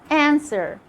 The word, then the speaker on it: answer: wrist wrinkle rub and it's also silent in some of the most common words like when you say to sword who answer that's it for today